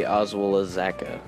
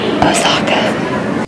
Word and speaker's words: Osaka: We're back with another episode of Between Two Boxes, and I'm here with Oswalazaka. That's not how you say it. Oh, how's it pronounced? Osaka.